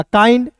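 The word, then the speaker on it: kind: ए के का क और आई एन डी है तो इसका उच्चारण आईन के रूप में करेंगे। हो जाएगा काइंड।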